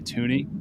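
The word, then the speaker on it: Thuney: think it's really funny people pronounce his name thuni it's really toony and that makes it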